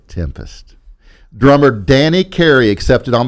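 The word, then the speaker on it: 7empest: the song 7m pused I know it's spelled with a 7 but I had to say it but it's actually pronounced tempest drummer Danny Carey accepted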